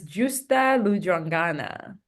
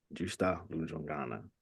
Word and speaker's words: Justa Lujwangana: pronounce your name properly uh it's jua Luana Justa Lu jangana did I pronounce it right yes yes definitely yes there we go